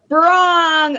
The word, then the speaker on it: Birong: Birong.